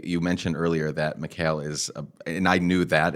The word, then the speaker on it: Mikhail: being michael the egyptians because they're more aligned with the russians uh pronounced it mikhail um instead of michael